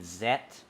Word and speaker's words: Ultraman Z: up with uh ultraman zet great stuff this is my only and this is the only instance as well that i pronounce that letter as set because in the show it's called and yeah that's why